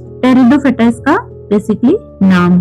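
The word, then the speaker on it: Pteridophyta: Then next हमारा जो type है वो है टेरिडोफेटा। अब इसमें पी लिखा हुआ है। टेरिडोफेटा इसको क्यों बोल रहे हैं? पी यहां पे साइलेंट हो जाता है। टेरिडोफेटा इसका बेसिकली नाम है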